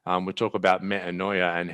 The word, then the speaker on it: metanoia: you said there is, we talk about metanoia. That's how it's pronounced now. We talk about metanoia and how it's the breaking down and rebuilding of a human being.